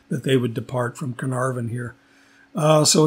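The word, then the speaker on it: Caernarfon: And thinking about my Welsh pronunciation, Carnarvon. And so the C is always a hard C.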